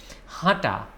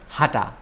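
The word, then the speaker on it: হাঁটা: from your nose okay hata it's not hatha just hata it's hata okay so wak means hata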